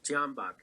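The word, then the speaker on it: Tyahnybok: The C-14s was started as a youth wing of the Svoboda party, founded by Ole Tenahambak. Is that how do you say his name, Max? Tianbach.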